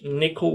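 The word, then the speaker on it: NCCL: is that in general this nickel one is the way you pronounce it is the right most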